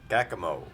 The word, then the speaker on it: Caccamo: little bit more but if you pronounce it like if you can read it backwards if you read more backwards it sounds like omar wow